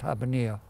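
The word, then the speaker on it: Habbaniyah: habanya habanea no sorry we pronounced it banya but it's normally pronounced happening and so we went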